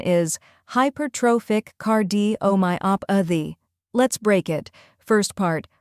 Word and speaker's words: Hypertrophic Cardiomyopathy: the correct pronunciation is hypertrophic card D oh my op a the let's break it first part High pair like High plus pair second part Tropic emphasize tro like grow third part cardo like